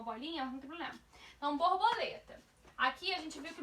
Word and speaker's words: borboleta: Borboleta tem a sua penúltima sílaba como sendo a mais forte. Se a penúltima é a mais forte, eu tenho uma paroxítona.